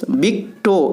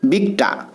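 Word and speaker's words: victor: বন্ধুরা, এখানে বিক্টো এটা না, সঠিক উচ্চারণ হলো ভিক্টর।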